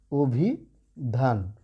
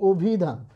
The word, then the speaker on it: অভিধান: কিন্তু এই শব্দটা দেখো আমরা উচ্চারণ করি কিভাবে, আমরা উচ্চারণ করি অভিধান, তাই তো? উচ্চারণ করি কিন্তু অভিধান। তাহলে দেখো এই যে দেখো এই অয়ের উচ্চারণটা কেমন হয়ে গেল, ও হয়ে গেল, তাই না?